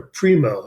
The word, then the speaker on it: Primeaux: was an economist named Walter Primo, it's spelled Primeaux, who wrote a whole series of articles.